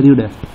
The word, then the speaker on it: read: उच्चारण में प्रोनाउंसिएशन में, तो इसे भी वन को पढ़ा जाता है रीड, भी टू को पढ़ा जाता है रेड, और भी थ्री को पढ़ा जाता है रीड।